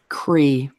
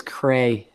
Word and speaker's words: Creigh: It's funny that So you how do you say it? Cree. Oh. Like I- Lee, like LEIGH for Lee. I've Gotcha. never heard them say Cree. Now everybody says Cray if they see that because